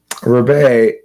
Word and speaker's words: Rebet: Rebet is how this is pronounced.